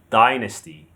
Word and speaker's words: dynasty: But in American, they say dynasty, dynasty. The stress is on the first syllable, dynasty.